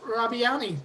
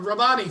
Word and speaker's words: Rabani: Rabiani. Did I pronounce that right? Am I even close? There you Rabani. go. Rabani, thank you.